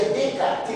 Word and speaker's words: Descartes: Descartes se pronuncia Descartes, usa Descartes nos S.